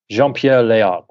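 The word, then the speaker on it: Jean-Pierre Léaud: what's name John lead John Pierre lead jeanpierre lead correct thank you for pronouncing it correctly and uh or as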